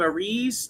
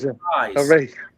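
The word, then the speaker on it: Arraez: Uh the uh Phillies added Luis Ar how do you say his name? Arise. I always mess Arza. Arise.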